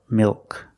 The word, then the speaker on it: milk: Or if the L is after a vowel but before a consonant. It's not between vowels. It's between a vowel and a consonant. The L is after a vowel but before a consonant. This is also a dark L.